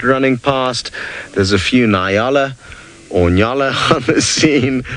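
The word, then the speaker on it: nyala: past there's a few niala on Yala have seen Nile is the wrong pronunciation in yalla is the more applicable one there you can see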